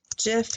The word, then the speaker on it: Jif: I'm going to say jiff is a brand of peanut butter and is pronounced with a soft G like jelly gif has a hard